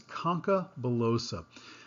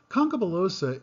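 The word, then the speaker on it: concha bullosa: agarnese cells first off note the correct pronunciation of this term this is concabulosa concubilosa is pneumatization of the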